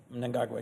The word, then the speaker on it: Mnangagwa: And you always correct me on my pronunciation, so I'm going to try my best. Mnangagwa. Mnangagwa, yes.